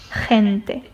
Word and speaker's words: gente: So it's pretty much a combination of H and like an R and it sounds like this. Okay? Gente. Glaciar. Gabriela. Normal G. Gente. Gente. Kind of like a flu H or a flu G. And this will probably take some practice because this kind of sound or this vocal does not exist um in English.